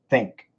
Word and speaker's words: think: The standard American pronunciation is think, think, think, think, think.